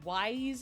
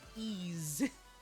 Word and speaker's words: Ys: Apparently it's like spelled Y-S or Wise as I would initially pronounce it, but then it turns out, oh no, apparently it's actually pronounced Ease. Like Easy Mode or Phil Collins' Easy Lover, apparently.